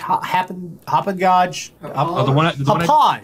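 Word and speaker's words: Hauppauge: to stick with hop how do you say that hoop and Gage H hoop and go that's it um I tend to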